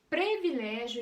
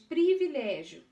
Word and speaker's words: privilégio: ortoepia e prosódia tão dizer previlégio em vez de privilégio ortoépia dizer degladiar digladiar